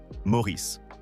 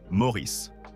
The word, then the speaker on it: Maurice: Le personnage partageait son prénom mais insistait sur la prononciation américaine Maurice tandis qu'ans lui-même toute sa vie insista sur la prononciation anglaise traditionnelle Maurice.